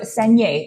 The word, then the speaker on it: saignée: So saignée, it rhymes with beignet, like the donuts.